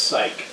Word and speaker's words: Psych: it's like Penny selecting the TV sh show Psych and she's like trying to figure out how to pronounce it and it's like P pwi thewi and then Jacob is like it's pronounced psych and then penny is like yeah I've heard